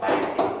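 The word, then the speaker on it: 맑게: 릴 기역 받침이 있는 말 뒤에 기역이 이어지면 그때는 앞을 발음하는 거야. 그때만. 원래는 뒤라고. 그러면 다시 이 녀석은 발음이 뭐가 맞는 거야? 원래 리을 기억이고 리을 기억 뒤에는 뭐가 왔어? 자음이 왔잖아. 그러니까 그냥 얘는 맞지. 그런데 얘는 리을 기억 뒤에 기억이 왔으니까 말게. 오케이?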